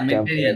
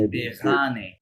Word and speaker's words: Méditerranée: না, মেডিটেরিয়ান tempéré- না, বুঝছো? ওটা লেখা থাকে méditer- মেডিতেরানে, মেডিতেরানে।